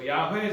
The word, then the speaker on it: Yahweh: So Yahweh is the name of God of Israel, representing the biblical pronunciation.